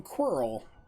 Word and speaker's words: Quirrel: look about you i'm quarrel rhymes with squirrel something that would eat